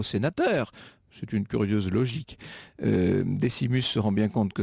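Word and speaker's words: Decimus: Vous savez en l'occurrence, il s'appelle Desimus, je prononce à la française.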